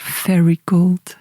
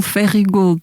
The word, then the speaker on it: Ferry Gold: muito engraçado tu dizeres fairy gold. É ferry porque lá em Stúball, ah, eu não sei fazer os R assim, a gente chama aquilo Ferry Gold, não há cá pronúncia nenhuma inglesa, mas foi bonito ouvir-te